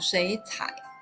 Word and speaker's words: 水彩: The tone of 水 changes to the second tone, making the sound 水彩.